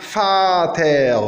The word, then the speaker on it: Vater: Fau, comme Vater, le père, Vater. Ou bien vocabulaire. On remarque que vocabel, le fau, il ne s'est pas prononcé fau, mais il s'est prononcé v.